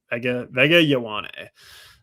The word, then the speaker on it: Vega Ioane: That's the way it goes, So we got the Chargers on the clock here, and you took Vega Ioane earlier. Ioane. Sorry, that's how you say it. Vega Ioane.